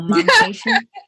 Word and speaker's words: Momcation: Your Momcation?